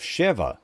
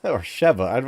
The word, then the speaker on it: Sheva: And we also meet the character of Shiva. Shiva, or Sheva, I forget how to say it. I think it's Sheva. She's another character, much like